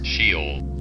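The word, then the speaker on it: Sheol: prosperity and in peace the go down to shol I think that's how it's pronounced here it's how it's actually pronounced shol cool they say to God depart from us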